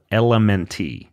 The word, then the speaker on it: LMNT: very intelligently formulated mineral it's called element it's spelled element like LMN the letter T and you can go